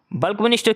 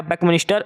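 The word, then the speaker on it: Buckminster: बल्कमिनिस्टर क्या है? बकमिनिस्टर। यह है बकमिनिस्टर है।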